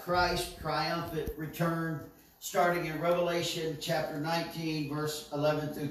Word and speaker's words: Revelation: a statement a declaration revelation is singular it is not plural it is not revelations like so many people pronounce it they had an s it is revelation it is singular it is one of it that is expounded